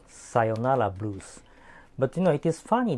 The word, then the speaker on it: sayonara: But actually, this is not the sayonara. Sayonara is the right pronunciation and also the right spelling.